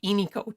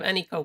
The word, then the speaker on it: Eniko: Yeah, I mean my nickname is supposed to be Eniko too instead of Eniko, but I've just given in to the way Americans say it because it's not worth fighting.